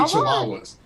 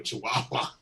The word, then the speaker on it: Chihuahua: We both hate Chihuahuas.